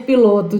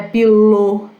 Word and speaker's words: pilot: Então lembrem-se, não é pilô, é pilot.